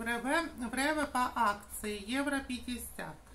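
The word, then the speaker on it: REWE: Вот эту воду всегда беру в Реве. Что-то сегодня Реве. Вот ударение неправильно ставлю.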